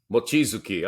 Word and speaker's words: Mochizuki: mathematician the Japanese uh shinichi what is it machizuki I think you pronounced Japanese better than I given your extensive Asian background uh how would you pronounce his last name well I'd say muchizuki mochizuki all right fair enough um and here he